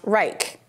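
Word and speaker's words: R3ich: by a company called R3 ich pronounced Reich he said he did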